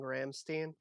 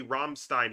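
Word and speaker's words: Rammstein: album sort of like how you're pronouncing ramstein it it's literally romstein he says it in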